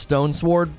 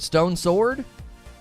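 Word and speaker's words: Stonesword: go alone doesn't pronounce stone sword properly is it stone's word or stone sword is it stone sword oh stone sword i always say stone's word it is it's a little stone sword isn't it why don't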